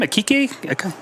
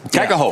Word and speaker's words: Kaika Ho: How do you say his name? Akike? Kaike? Where are you at? Kaika Ho.